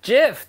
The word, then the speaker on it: GIF: want I don't care the guy who came up with it said it's pronounced jiff like the peanut butter and there's nobody else